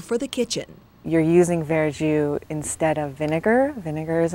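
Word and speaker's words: verjus: usual product called veru well first of all spell it is v e r j u s veru and that the literal meaning is green juice in French veru is not wine it's a juice made from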